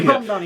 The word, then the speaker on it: Mamdani: And that's what Mamdani did. And I hope I pronounced it correctly. Mamdani, yep.